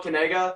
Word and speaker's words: Kanega: It's Kanega. You say it Kanega. Kanega. Like that. What do you mean by that? See, that's the key. It's Kanega. There you go.